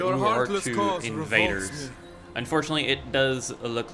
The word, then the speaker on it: Urartu: garrison only, defending against the Ugartu, or the Urartu, that's how you say it, Urartu invaders.